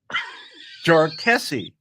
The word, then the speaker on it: Jarkesy: where he says and oh by the way it's pronounced jarie jarie yes and he makes a comment about how uh you know there's been multiple versions but this is how it's said so I thought I